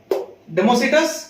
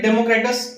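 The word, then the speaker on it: Democritus: Pronunciation अपने हिसाब से कर सकते हो, डेमोसिटस या फिर डेमोक्रेटस, कुछ भी बोल सकते हो, प्रोनाउंसिएशन खुद।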